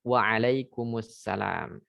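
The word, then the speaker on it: waalaikumsalam: saudara-saudari perlu diperhatikan itu jawabnya pun juga harus pas waalaikummussalam sekali lagi waalaikummussalam seperti yang nampak di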